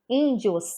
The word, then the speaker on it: índios: gente fala índio rapidinho índios rapidinho o que vai predominar ali é o in tá índio índio índio índio índio índio é o ic vai predominar e ele está acentuado aqui ele tem três sílabas